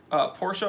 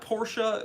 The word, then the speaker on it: Porsche: And it's just a little bit abbreviated from Porsche. I think you can say both. But yeah, people that don't understand that Porsche is pronounced Porsche and not Porsche, that's a little weird.